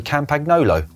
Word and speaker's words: Campagnolo: people to be able to almost perfectly say Campagnolo.